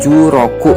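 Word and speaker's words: 十六: watashiwa jurok usai medas jadi 16 disini itu dibacanya juroku ya say Desa itu artinya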